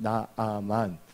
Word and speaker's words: 나아만: 근데 이 나만 장군이 나오는데 이 나만이란 뜻은 즐거움이라는 걸 갖고 있어요. 그래서 원래는 나만, 여기서 두 자지만 나아만, 그리고 발음하는 게 더 정확하다고 볼 수가 있어요.